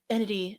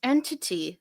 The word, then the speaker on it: entity: and they're just like entity, and I'm like, it's entity. Like just pronounce your T's.